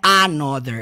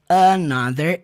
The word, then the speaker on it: another: Is another, olha só o som do TH aqui dentro. Another, não é another, é another, is another, another, eu